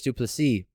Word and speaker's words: du Plessis: Darren Till versus Dricus du Plessis. The S is silent.